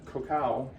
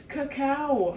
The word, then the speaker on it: cacao: I got corrected that I pronounced the chocolate cacao. It's cacao. Cacao, excuse me.